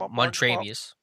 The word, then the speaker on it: Montravius: of not enough, them signing how do you pronounce his first Like name? Montravius.